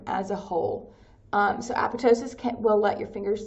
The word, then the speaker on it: apoptosis: cell death is called apotosis so that PT the p is silent like pterodactyl so apotosis apotosis is a common form